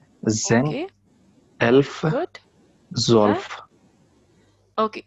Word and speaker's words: zwölf: zwölf. Sorry? Zwölf. Can you? Zwölf. 12. Yeah, 12. yeah, zwölf. So it Okay. is OE is also like it is EO. OE. No. OE is EO. So EO. zwölf.